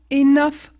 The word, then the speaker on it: enough: de figure qu'au début ça finit par auug et devant il y a des lettres consonne il y a il y a un groupe de consonnes mais ça finit par UG donc ça va être enough h HE Young bien